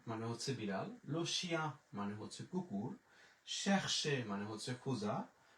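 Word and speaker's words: le chien: আর ই ও এন বরযাত্রী হচ্ছে ইয়া, তাহলে উচ্চারণ হয়ে গেল লো শিয়া, লো শিয়া।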